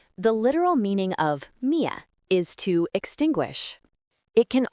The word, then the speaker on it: 灭: Its pronunciation is Mia.